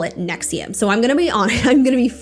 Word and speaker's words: NXIVM: it for me so I knew I was pronouncing it correctly so finally Nexium was born nexum was a multi-level marketing company